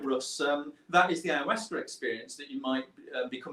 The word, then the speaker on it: ayahuasca: You pronounced it perfectly, by the way. Ayahuasca.